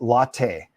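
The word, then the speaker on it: Lotte: oh Gerald Gil said that lot is pronounced latte just in in case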